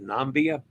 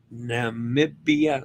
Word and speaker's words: Namibia: and overnight stays are planned in walis Bay nambia Namibia excuse me pronounce that wrong every time Cape Town South